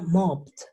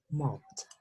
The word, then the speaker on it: mopped: Entonces, mop termina en una P, y yo sé que las P, los que terminan en P, los pronuncio con una T. Entonces yo diría mopped, mop.